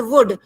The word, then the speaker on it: would: ठीक है, तो कुड और वुड, यहाँ पर कुल्ड और वुल्ड नहीं होगा.